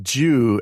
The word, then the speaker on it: Giu: There's I think a Brazilian soccer player, whose name is pronounced Jew, and it's Giu.